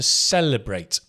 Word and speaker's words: celebrate: one to celebrate and the accent on the cell to celebrate and it's a s sound like a s s to celebrate is to acknowledge you